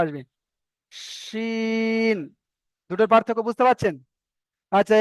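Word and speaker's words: شين: এটা একটু মোটা করে উচ্চারণ করতে হবে, বুঝতে পেরেছেন? এখানে সবাই আমারটা ভালো করে মন দিয়ে শোনেন।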